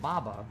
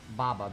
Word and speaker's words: baba: my grandma's grandma in macedonia i call them baba because that's how you say grandma in macedonia baba b-a-b-a that's how you say it baba that's what